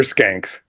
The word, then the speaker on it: Schenck: The ancestors have softened the pronunciation, but back in the day, they were Skanks. Skank.